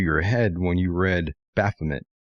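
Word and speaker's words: Baphomet: Uh I generally say Baffomet. Um, but you know, obviously if you were French, you might say Baffome and that's what the uh the French knights who were being interrogated.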